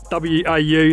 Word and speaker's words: WAU: W-A-U, that's how you say it, WAU.